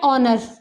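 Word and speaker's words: honour: ठीक है, इसी तरीके से एन ऑनर, यहाँ पर भी जो एच है ये साइलेंट हो गया और साउंड किसकी आई, ओ वाली साउंड आई, इसलिए हमने इसके आगे एन लगाया।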